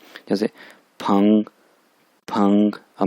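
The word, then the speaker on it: 朋: Twin लगी हुई है, इसको प्रोनाउंस करेंगे फंग, फंग, ठीक है।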